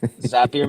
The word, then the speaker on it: Zapier: done it without zappier we all know how to pronounce it now too at least zapier makes you happier yeah makes you happier